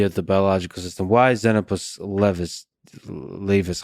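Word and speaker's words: Xenopus laevis: Why zenopus leis? How do you pronounce it? The frog. Zenapus leis.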